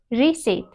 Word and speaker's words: receipt: No, it is receipt. Receipt. Okay. How do you pronounce it?